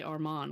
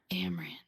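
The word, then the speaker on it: Amren: So I have it's so funny because in my mind I always want to say Armand, which I know is not right, but like when I see her name on the paper, I'm like, it's Amran.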